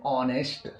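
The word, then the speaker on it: honest: नेक्स्ट वड है ऑनेस्ट यहां पर भी एच आ रहा है और ए के जस्ट बाद क्या आ रहा है बवेल आ रहा है इसलिए हम एच को नहीं पढ़ेंगे हम पढ़ेंगे ऑनेस्ट दोस्तों दूसरा रूल है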